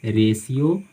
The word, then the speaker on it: ratio: तो आए आपको ध्यान में रखना है कि जब भी टी के बाद किसी वर्ड में टी के बाद आई ए, आई ई, आई वो आए तो वहाँ पे TIA को सी का साउंड देता है, सी का उच्चारण होता है, TIO को सो का उच्चारण हम करते हैं, और TIE को से का उच्चारण करते हैं। एग्जाम्पल देखिए आपके सामने, पोटेंशियल, रेशियो, पेशेंट।